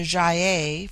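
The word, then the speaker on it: Gy-ei: It forms itself into Jaye for the plural, but the G becomes soft in the plural, like JY-EI.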